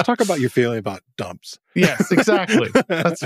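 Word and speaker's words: json.dumps: it Json okay but it's not dumps and loads it's dump s and load s s is for string but it's just fun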